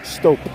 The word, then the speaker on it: Stop: Look, it says stop. It's pronounced Stope.